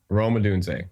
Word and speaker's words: Rome Odunze: Brando's brand, as well as technology failures, is mispronouncing last names. I'm sorry. Can you say it for me? Rome Odunze? Rome Odunze.